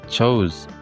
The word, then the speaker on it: chose: itu masih bisa kemudian kata chose itu diucapkan chose chose Z bukan chose artinya tidak diakhiri dengan bunyi tapi Z selanjutnya dalam frasa a